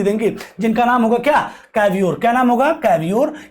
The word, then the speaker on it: Cavour: को ये रिस्पॉन्सिबिलिटी देंगे, जिनका नाम होगा क्या, कैवियोर। क्या नाम होगा, कैवियोर या फिर कैवोर, जो भी आप इसको प्रोनाउंसिएट कर लें।